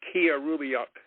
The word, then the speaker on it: Killarumiyoq: And by the way, that is pronounced Killarumiyoq. Killarumiyoq. Okay, Killarumiyoq.